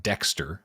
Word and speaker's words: DXTR: with new art from i'm gonna say it's pronounced dexter it's all caps dxtr and they also did